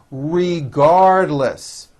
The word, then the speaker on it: regardless: Regardless. Regardless with a strong L.